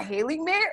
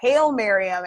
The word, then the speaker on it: Haile-Mariam: I was saying Sarah Haley man like I was saying Sarah Haile Mariam actually it sounds like Hail Mary maybe they're there but